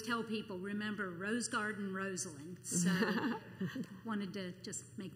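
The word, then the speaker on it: Rosalynn: Carter's name is pronounced Rosalyn. She's named after her Aunt Lynn and her cousin Rose. And I always tell people, remember Rose Garden Rosalyn.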